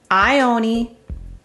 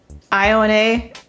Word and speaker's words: Ione: my research is that pronunciations ioni ioni ion iona and any other pronunciations are accepted in my opinion i think